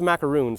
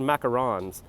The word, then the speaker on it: macarons: I thought it was macaroons, but it's spelled macarons.